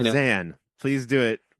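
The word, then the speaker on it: Zahn: trash my boy Steve xan and Diary of a wmy kid because it's not how it's pronounced it's Steve Zan please do it correctly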